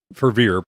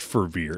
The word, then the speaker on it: Fervier: have to see John Fervier. By the way, why why why do people have a hard time pronouncing his name? It's pronounced how it's spelled. It's very simple.